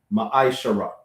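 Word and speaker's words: מעשר: Numbers chapter 18, verse 21, and Malachi chapter 3, verse 8 to 10, which means a tenth in the Hebrew, pronounced ma'aishara.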